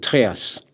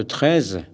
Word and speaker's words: Trez: Mais les léonards ont tendance à inverser les lettres E et A et prononcent Tréas, comme le nom de l'école du Tréas à Kerlouan, alors que les Cornouaillais prononcent 13.